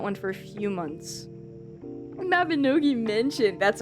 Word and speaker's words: Mabinogi: The most I've ever played was Mabinogi, I think is how it's pronounced.